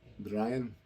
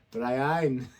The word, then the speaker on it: Briain: Brian? No, it's Brian. Brian. Brian? Brian. That's what the comment said. Brian.